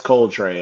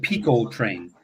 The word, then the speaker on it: Coltrane: Say his name again. It's Coltrane. I said Coltrane. That was the dude from Star Trek. So, yeah, Spanish gets in the way. I thought it was Roscoe Pico Train.